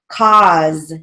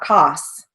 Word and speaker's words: cause: paw p-a-u fraud f-r-a-u-d cause notice it's got a final z not an s it's not cos fault f-a-u-l-t malt m-a-u-l-t